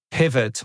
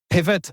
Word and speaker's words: Pivot: Zurich number eight is Pivot or PIV because they're a french-based company I guess that's pronounced PIV and pivot I'm going to call them pivot I'm a native English speaker and it's bit awkward pronouncing It the French way they are a spend